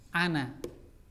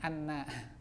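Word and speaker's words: أنا: Ya, cara bacanya hati-hati, nunnya jangan sampai ada syiddah ya, pendek. Ana. Ya, karena terkadang ada ana. Nah, itu sebetulnya ada syiddahnya, anna.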